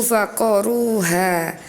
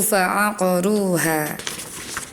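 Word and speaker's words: فعقروها: Kemudian ada di surah As-Sams ada huruf yang tidak terbaca ya huruf ain yang tidak terbaca. Tadi Ananda membacanya fakadzabuhu faqoruha. Harusnya dibaca fakadzabuhu faaqoruha.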